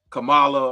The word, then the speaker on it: Kamala: pronounce it, like Kamala, like with the C-O-M, like a calm, you know what I mean?